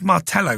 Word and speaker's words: Martello: I think they're called Martello towers. "Yes, I know those," Escara said with a smile. "They are in fact called Ma towers." He pronounced the double L as a Y.